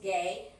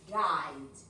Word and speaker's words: guide: Ojo con la pronunciación de guide, yes, and gay. This is gay, yes, not a tourist gay, but a tourist guide, yes, okay?